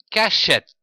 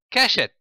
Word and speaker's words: cachette: Les lettres E et T se prononcent ET, comme par exemple cachette. Attention, le E devant les deux T se prononce E, ceci sans accent.